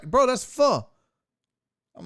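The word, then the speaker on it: phở: It's pronounced pho, not pho. F-U, pho.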